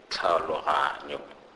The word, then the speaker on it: tlhaologanyo: We also have the TLH. TLH is pronounced in Sepedi as these alphabets, when put together, are pronounced like the CL in the English word sclerosis. For example, tlhaologanyo, tlhaologanyo, which means understanding.